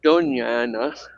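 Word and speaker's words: Doña Ana: So it was then there is an old church uh out further uh into Dona Anna and it's pronounced Donana uh where there had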